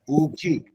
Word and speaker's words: ऊखी: बड़ा ऊ है और ख है, ऊखी।